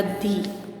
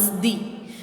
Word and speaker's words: the: Be careful when you pronounce दी, placed before naming words ना मतलब naming words that begin with A ई आई ओ you sounds. यहाँ पे हमें pronounce करना है दी, क्योंकि वो साउंड्स वोवेल्स के आगे है इसीलिए।